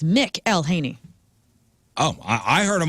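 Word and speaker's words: McElhenney: Well, I looked up the phonetics. I I did this because I I wanted to get it right and it says Mick Elhaney.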